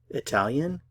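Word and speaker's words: italien: angle English angle angle Italian ital italan notice I'm not pronouncing the consonant at the end Italia Italia Italian Italia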